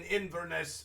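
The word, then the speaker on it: Inverness: end up landing in Inesse again. Iness. Yes, it's three syllables and we'll end inveness that day.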